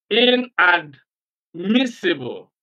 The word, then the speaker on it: inadmissible: Incorruptible in incompatible the prefix and stress the next syllable after the prefix for example the prefix